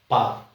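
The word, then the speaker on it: park: word है वो है पाक पाक पी ए आर के पाक पाक में आर जो है वो क्योंकि आर के बाद में कंसोनेंट साउंड है इसलिए आर साइलेंट है और पाक जो है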